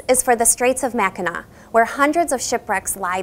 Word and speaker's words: Mackinac: at the Mackinac Bridge both are spelled with the French sea at the end which sounds like a w and to further confuse